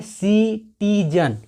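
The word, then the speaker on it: citizen: तो आप खुद देख रहे हो कि सी का उच्चारण यहाँ पे स हो रहा है, इसलिए हम इसको सिटीजन पढ़ रहे हैं, इसको हम किटीजन नहीं पढ़ रहे हैं, क्योंकि यहाँ पे सी के बाद आई है।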